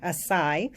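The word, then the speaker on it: açaí: So you know that the acai, or some people pronounce it acai, is a berry, one of the richest in antioxidants.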